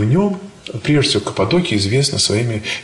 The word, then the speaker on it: Каппадокия: Я думал, всегда называл Каппадокия, но там все говорят Каппадокия. В Новом Завете написано Каппадокия тоже. Ударение на... По-русски, если читаешь Новый Завет, Каппадокия. Но там все употребляют в таком, с таким ударением, поэтому уж простите, не знаю наверняка, как, на чем нужно остановиться, но и такая всякая формулировка существует. Я там научился говорить Каппадокия.